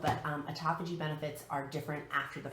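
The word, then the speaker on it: autophagy: G benefits which is felt a tapa G it sounds differently than it's spelled but Ataka G benefits are different after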